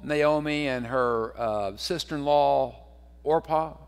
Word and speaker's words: Orpah: and her uh sister-in-law orpah i guess is how you pronounce that oprah fix it made it different but um so anyway